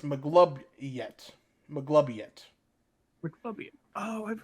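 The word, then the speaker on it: Maglubiyet: __ ] yeah the mighty one M it's pronounced mlob yet mlob yet mlob oh I've heard of him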